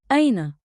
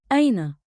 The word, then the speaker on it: أين: Say it slow. Aina. One beat like in with a light catch at the start.